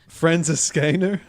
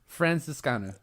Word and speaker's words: Franziskaner: This one, Ethan, go ahead and pronounce the name. Franziskaner. Right? Weissbier. Franziskaner.